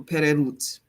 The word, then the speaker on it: pereru: warrior, is perut or pererut. Warrior in general is pereru. Okay, which it rhymes with Guerreru, which many people are familiar with in the Orisha traditions, right?